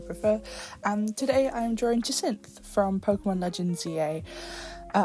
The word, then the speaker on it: Jacinthe: And today I'm drawing Jasin from Pokémon Legends EA. Uh, I've heard lots of people with different pronunciations of her name. I've heard Janth.